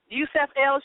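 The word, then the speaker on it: Yusuf El: Okay, Yusuf L show for people because some people are going to be sitting out there going, who?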